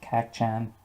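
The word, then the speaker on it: Kacchan: fight with kak chan i think i pronounced it wrong in the last video but his name is kak chan or that's what uh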